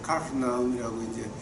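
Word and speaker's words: Kafarnaum: 그래서 카프나움이라고 이제 그렇게 발음들을 해요.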